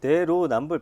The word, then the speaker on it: 내로남불: 근데 내로 남불 발음이 잘 안 되시네. 그러니까요, 자꾸 여기. 내노라고 하네.